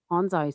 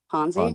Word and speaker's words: Ponzi: Honai scheme. Did I say it right? Ponzi. Ponzi.